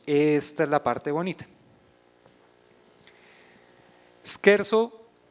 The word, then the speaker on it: scherzo: es la parte bonita scherzo en realidad la pronunciación italiana de un verbo alemán que es ser sen